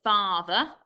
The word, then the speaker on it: father: So father, we don't spell it F-A-R-T-H-E-R. It's just F-A-T-H-E-R. So we've got to remember that when we say R, it's just an A on its own.